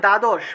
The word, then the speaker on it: দ্বাদশ: তাহলে মনে করেন যে দ্বাদশ, বাংলায় বললে দ্বাদশ, কিন্তু সংস্কৃতে উচ্চারণ করতে হবে কি, দয়ের নিচে বফলা আছে তাহলে দুয় উচ্চারণটা আসবে।